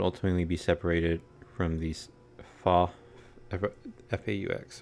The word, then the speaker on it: faux: Your minds would ultimately be separated from these F-A-U-X. I don't know how to pronounce that word. Is it fox? It's not fox. I don't think you pronounce the X. I want to say it's faux.